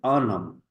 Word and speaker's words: homme: H is usually silent. So, in this condition, we will pronounce the object with article. So, not it will look like anam.